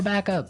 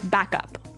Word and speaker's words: backup: important hey yes yes you have to say backup Backup backup yeah so both words are stressed at about the same level hey mhm backup cuz